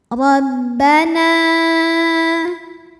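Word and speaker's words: رَبَّنَا: harakat yaquuluna Rabbana huruf Dho dibunyikan secara tafkhim karena Roho berharakat Fathah harakatnya di atas ya maka cara membacanya adalah D dibunyikan dengan tebal dengan cara mengangkat pangkal lidah kita Rabbana nah hukumnya adalah Mad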